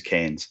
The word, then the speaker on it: Cairns: Australia now living in Cairns Australia hope I'm pronouncing that correctly I love the way everybody says canes okay it is so